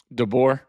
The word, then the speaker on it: DeBoer: Or Yeah, how do you say his last name? DeBoer. DeBoer.